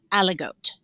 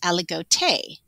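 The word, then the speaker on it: Aligoté: different way oh okay so i have always pronounced it allegot yeah that's what i would say okay and then on their wine label and also talking to the winemaker he says aligote so the difference of the e the french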